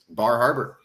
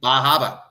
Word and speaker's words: Bar Harbor: real question from Maine himself where in Maine Bar Harbor I'm sorry Baba yeah right was like hold on you didn't